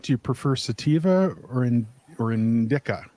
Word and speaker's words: indica: Liz, on a little lighter note, do you prefer sativa or indica? Indisa. I don't know how to pronounce that one. Indica. Indica. Thank you. That's not my preference. That's just how you pronounce it.